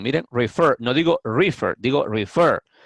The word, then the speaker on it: refer: Aquí esta pronunciación es refer. ¿Ven? Refer. Aquí yo puse en letra mayúscula la sílaba fer. ¿Por qué? Porque el verbo es de dos sílabas, refer, pero la sílaba que lleva el acento, que lleva la pronunciación más fuerte es la última sílaba, fer.